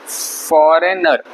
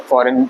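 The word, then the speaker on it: foreign: हम फॉरेन बोलते हैं फॉरेन प्लेस है तो एफ ओ आर ई आई जी एन स्पेलिंग है ब इसको पढ़ेंगे फरेन फ फॉरेन ठीक फॉरेन पढ़ेंगे इसको ये है डिजाइन सबसे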